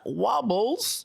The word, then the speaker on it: Wobbles: rdit self-promotional Fame who we will call uh wobbles which the most learned of you is among you and that means both of you will know does in fact rhyme with marbles has been leaking leaks